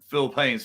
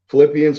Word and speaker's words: Philippians: I can't do it do something from uh Phil Payne's 4 13. apologies involved pronounce that wrong I haven't uh I haven't read read the Bible there uh you you've got a a religion who haven't you Philippians 4 13 Philippians sorry Philippines strengthens me yes